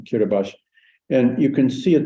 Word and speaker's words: Kiribati: we come to kiribash I always thought it was Kiribati but apparently the locals pronouncing kiribash and you can see